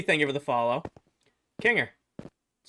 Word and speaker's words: Kinger: Kanger, that's how you say my name.